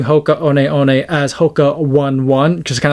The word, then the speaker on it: Hoka One One: was starting to again correctly pronounce the name Hoka as Hoka on on versus the Hoka one one I could be a